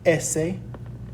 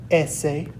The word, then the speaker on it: ese: Next up, we have S, which is pronounced ese, ese, And our word for this is going to be el sol, which is the sun.